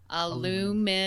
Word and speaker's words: aluminum: Aluminum.